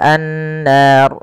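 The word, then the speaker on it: النار: Kemudian pelafal an-nar. Di sini ada gunnah. Pada lafal nun, cara membacanya yaitu ditahan suara nunnya. Ashabun bun, baru lepas nar. Dan ro di sini kita hukumi dengan ro tafkhim, ro yang tebal. Tidak boleh dibaca dengan ro tipis.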